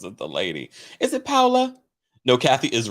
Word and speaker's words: Paola: out about kathy hilton's it's not paula right it's paola right i think she just just knows doesn't know how to uh pronounce it because they they spell it p-a-o-l-a am i incorrect or